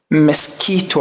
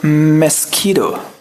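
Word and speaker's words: mosquito: ممكن تقول مسكيتو عادي، مسكيتو او مسكيدو.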